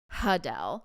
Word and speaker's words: Adele: everyone that indeed in fact, her name is pronounced Adele, like Huh.